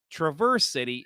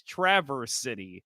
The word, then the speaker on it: Traverse City: my head now say it's not Traverse City it's Traverse City so yes all right